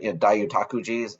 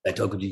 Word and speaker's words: Daitokuji: Yep, You know, I always pronounce that wrong, but Daiutakuji, am I saying that right? Um, Daitokuji, yeah.